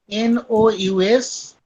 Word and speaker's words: nous: नो, we pronounce no, NOUS. no. Basically, in French, generally some words we write but we cannot pronounce. Got it? In French, last letter generally we cannot pronounce. For the example, this word is ending with S, but S we cannot pronounce. We will pronounce no.